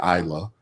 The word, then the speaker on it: Isla: lot of people say isla but it's actually isla the s is silent and so isla instruments